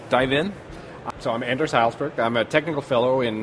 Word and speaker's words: Hejlsberg: Hejlsberg? Hejlsberg, yeah.